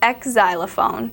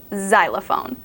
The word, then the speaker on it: xylophone: an X at all you pronounce it as if it has a z xylophone you don't say ex xylophone you say xylophone this is one of